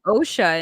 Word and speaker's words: Osha: they give her the oh her name is OSHA and every time I hear it I'm like you mean OSHA like OSHA regulations yeah that's exactly yeah well